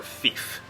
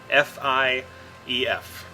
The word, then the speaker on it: Fief: how you pronounce this, it's either Fief or Fief. F-I-E-F. I've heard it debated on how you say it.